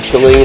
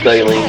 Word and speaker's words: Saleen: a little bit so either cine or saline depends on where you come from I guess one correct way of pronouncing it but that's way always said it but anyway time for